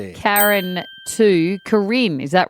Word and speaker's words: Karin: How often do you have to explain to people that it's spelled? It sounds Karen, not every single time I say it.